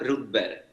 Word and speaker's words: Rudberg: Omar Rudberg. Rudberg. Rudberg, sí. En español se dice Rudberg, en inglés se dice Rudberg, en sueco se dice Rudberg.